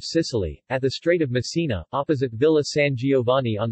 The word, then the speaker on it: Messina: Massena Italian pronunciation mes Sina listen Sicilian Messina Latin Masana ancient Greek